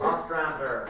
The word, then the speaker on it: Ostrander: Kim Yale and John, whose name rhymes with ostrich, because I can't pronounce it. Ostrander. Thank you. It doesn't rhyme with ostrich. That's not an ost, that's all that matters.